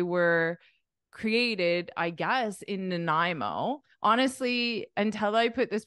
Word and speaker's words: Nanaimo: as I Nai Nai and then the beginning is like unstressed so it's like a no uh nanimo nanimo Nanaimo do you recognize the